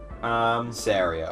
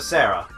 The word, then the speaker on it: Saria: Saria, I think is the correct way of pronouncing it. Yeah, weird that, because I've always called her Sarah.